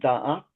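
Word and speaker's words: Da'at: And then in the middle you have knowledge which is dat. Is that the right pronunciation? That's correct.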